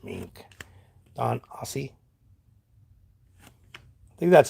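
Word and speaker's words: Aase: I mean, he may now, but when I used to watch him a lot, which is very sparingly now, um, it's Aussie.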